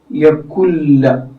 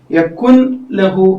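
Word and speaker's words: يَكُن لَّهُۥ: ഉച്ചാരണം നഷ്ടപ്പെട്ടു അവിടെ പിന്നെ ഇതെങ്ങനെയാ വായിക്കുക യക്കുല്ല എന്നാണ് വായിക്കുക ഇങ്ങനെയാണ് വായിക്കുക യക്കുല്ലഹു യക്കുലഹു എന്ന് വായിക്കരുത് യക്കുലഹു എന്ന് വായിക്കരുത് യക്കുല്ലഹു എന്ന് തന്നെ മുറിച്ച് പിന്നെ നൂൻ ഇല്ലാത്ത രൂപത്തിൽ തന്നെ ചേർത്ത് വായിക്കണം എന്ന് പറഞ്ഞാൽ മണിക്കാത്ത രൂപത്തിൽ കൂട്ടി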